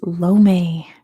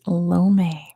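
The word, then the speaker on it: Lomé: It is Lome. Good job to Veer. The answer is Lome.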